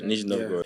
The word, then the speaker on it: Nizhny Novgorod: I was shown in Nizhny Novgorod, I don't know if that's the correct pronunciation. It's correct, Nizhny Novgorod.